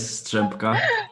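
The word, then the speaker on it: Strzępka: Monika Střepka, am I correct in this pronunciation? Yes, Střepka.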